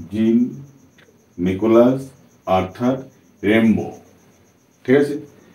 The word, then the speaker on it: Rimbaud: কি জিন নিকোলাস অর্থাৎ রেম্বো ঠিক আছে বানানটা কিন্তু দেখতে একরকম কিন্তু উচ্চারণটা কিন্তু অন্যরকম হবে কারণ এটা ফ্রান্স থেকে শব্দটা নেয়া হয়েছে সেই কারণে আচ্ছা দেখো এর ডিটেইলস